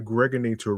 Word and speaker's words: Gregonator: This is your man and homie, aka the Gregonator, rhymes with now or later.